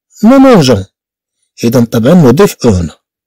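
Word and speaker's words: mangeons: اشنو غنديرو حنا باش نحافظوا على النطق ديال لو فيغ مانجي؟ هذا لو فيغ مانجي ماشي لو فيغ مانجي. معنو نقول نو مانجون، اذا طبعا نضيف او هنا، اذا حتى نقول نو مانجون.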